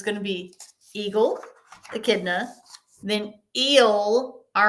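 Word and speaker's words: echidna: It's pronounced akidna.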